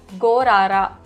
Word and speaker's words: 걸 알아: You must pronounce it as Gorara.